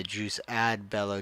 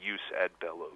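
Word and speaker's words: jus ad bellum: segments and that's a juice ad Bellow juice in Bellow and Juice post Bell yeah yeah usually we we keep the Latin pronunciation so we say use at Bellow use in Bellum right sorry about that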